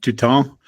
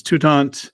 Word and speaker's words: Toutant: I'm super impressed with your French pronunciation of Touton. Even though it's Toutant. It's very anglicized.